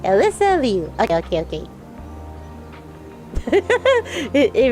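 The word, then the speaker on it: Alysa Liu: How to pronounce Alisa Lou or Leu? Alisa Leu. And yeah, let's do this one. Alyssa Leu. All right. Alyssa Leu.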